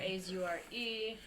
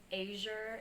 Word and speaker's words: Azure: What's up, Azure? I'm doing good. Hey, help me out with your goddamn name. It's Azure, right? Yeah, it's Azure, A-Z-U-R-E.